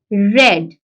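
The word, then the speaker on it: read: week Samreen had रेड रीड का जो past tense होता है और जो पास्ट पार्टिसिपल होता है वो भी रेड वो रेड होता है दोनों में रेड आता है लेकिन स्पेलिंग उसके सेम होते हैं ठीक है तो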